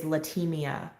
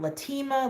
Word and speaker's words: Latimia: cannot say my name my name is latimia and i've gotten latima latina latima virginia all kinds of stuff i'm like virginia that